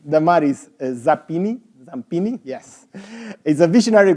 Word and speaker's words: Damaris: Damaris, it's spelled correctly, am I saying correctly? Damaris Zampini, yes, is a visionary global growth executive,